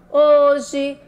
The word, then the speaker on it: hoje: Hoje a aulinha está voltada para você, aluno do 4º ano da Rede Municipal de Goiânia.